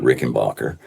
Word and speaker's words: Rickenbacher: Adolf rickenbacher from Switzerland mhm and he he pronounced it Rick and Bacher and spelled it differently was spelled with bot